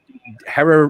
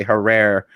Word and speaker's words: Herrera: he could you know hera rhymes with terror you know some people say her rare you know but it was herrera and it rhymes with her he like adam he